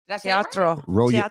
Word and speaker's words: Teatro: Teatro. She said roll your R's right.